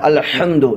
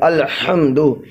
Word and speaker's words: الحمد: جانا، غائب ہو جانا، جبکہ اس کا صحیح ترجمہ، صحیح تلفظ، صحیح پروننسیشن، صحیح اچارن ہے الحمد، یعنی آپ حلق سے، بیچ حلق سے آپ ہا نکالیں گے، الحمد، الحمد للہ رب العالمین،